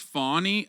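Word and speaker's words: Fani: right now one is it's pronounced fawny okay whatever I don't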